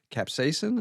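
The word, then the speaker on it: capsaicin: So, one of the things they're saying is that because cap capsain, is that caps?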